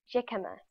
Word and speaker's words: jicama: First, let's see how you pronounce its name. Click on the link to hear it. Jicama.